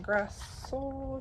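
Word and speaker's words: Grassle: interview with Dean Butler um Karen grass that's how you say her name but it's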